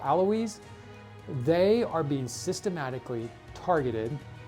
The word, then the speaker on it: Alawites: I believe they're pronounced some people call them alawites but I believe they're called aloise they are being systematically